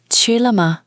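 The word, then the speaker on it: 吃了吗: Ch first tone, high and flat. L neutral tone, short and light. Ma, neutral tone. Chile.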